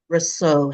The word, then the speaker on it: Rosseau: Welcome to On the Sofa with, where I have an incredible entrepreneur, visionary, and much more, James Rosseau. Have I pronounced that correctly, James?